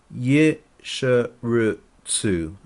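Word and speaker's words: ישרצו: So the word is pronounced, and I'm using modern Hebrew pronunciation here, Yesheretzu.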